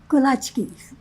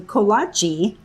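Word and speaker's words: kołaczki: Kolachkis is how we said it, but now we see all these brick and mortars on the corner of everywhere. And I think people pronounce them kachi. And we're like, no, no, no, it's kachki.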